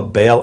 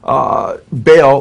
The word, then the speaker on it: Baal: And then Baal, or he says Bel, B-E-L, or Baal, he spells it B-A-A-L, how